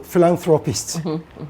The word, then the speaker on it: philanthropist: And I gave you, for example, philanthropist. The first syllable in these two words both sound the same. Phil. And so if you ask